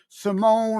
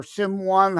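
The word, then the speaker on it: S1m0ne: ahead of its time Simone or sim1 however you wish to pronounce it because it's spelled S1 m zero and E uh love those movies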